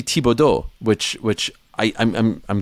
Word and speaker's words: Thibodeau: right oh great example it's not Thibodeaux what the hell and when did we go from Thibodaux to Thibodeau I'd like to know people people go right back and forth a broadcast and they're saying his name two different ways which is it I'd love for someone to ask him and he'll probably say some variation of Thibodeau or but it's actually tibodo which which I I'm